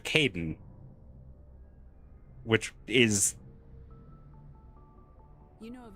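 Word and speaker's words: Kaidan: My brain goes, ah, yes, K-A-I would be pronounced Kai. So then I go Kaiden instead of Caden.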